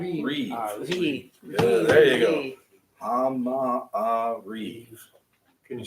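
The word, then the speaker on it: המעריב: Yeah, if you're if you wind up writing it out, if you're transliterating it, you're gonna wind up doing ha, ma, reeve. Hama-a-reef. You're gonna wind up with a break Hama-a-reef. between the two ahs.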